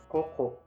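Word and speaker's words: ここ: You want to say koko, koko, which means high school, and you just pronounce koko, koko, which means here.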